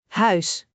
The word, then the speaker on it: huis: The word huis means house. Let's break it down. Huis. H ui S. Huis. Try to shape your mouth like you're saying au in English, but stretch the sound differently. Huis.